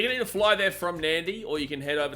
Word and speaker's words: Nadi: pronounce it Kadavu because when you see a D in Fijian, you put an N in front of it. That's how it's pronounced. Like when you come to Nandi, it's not Nadi, it's Nandi.